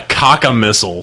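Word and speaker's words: cacomistle: And he's like, it rhymes with thistle.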